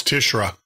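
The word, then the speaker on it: Tishrei: And specifically the month of March, the month of Tishir, I think they pronounce it. Anyway, that was a warning in Bible code concerning asteroids striking the Earth. Yeah, that's Tishra. Tishra, okay. Yeah, is the Jewish term. Yep, Tishra. So, wow.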